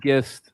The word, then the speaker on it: Gist: So the last name is pronounced Gist, not Gist or Geist or Geist or any of that stuff.